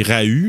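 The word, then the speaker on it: Rau: À part Andrea Rowe, parce qu'il le prononce comme ça, là, je me demandais, là, c'est Rahu, là, mais il le prononce Rowe.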